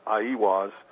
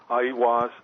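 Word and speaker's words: Aiwass: Well, I think the Book of the Law, which Crowley supposedly wrote through automatic writing, Crowley attributed to, I believe the way it's pronounced is Aiwas.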